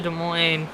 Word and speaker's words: Des Moines: gotta use the S yeah it is a silent s that way but there's no sourness I should go up to Des Moines what oh wrecking back